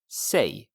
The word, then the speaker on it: sig: Sig. Is it interesting? It sounds like say in English, but it's spelled S-I-G and it's pronounced sig.